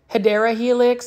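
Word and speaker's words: Hedera helix: I love me some HRA helix or the correct way to say is hadera Helix so either way I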